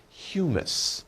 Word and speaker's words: humus: Maybe not funny sounding, but you pronounce it humus.